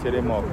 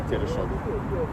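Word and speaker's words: Теремок: Teremok. Okay. I heard you say Tereshok.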